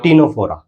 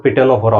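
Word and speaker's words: Ctenophora: टीनोफोरा। तुम कहोगे पिटेनोफोरा हो रहा है, तो पी साइलेंट है यहाँ पे।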